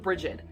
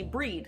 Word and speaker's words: Brigid: for that pronunciation of bridget i know there are lots and lots and lots of ways to pronounce it some say breed some say bridge some say brigitte and it's it goes